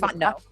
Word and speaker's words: Fontenot: The girls that were eating me alive, they said, Fontenot. Actually, it's because I'm married. Yeah, and then they didn't even say your maiden name right. It's Fontenot.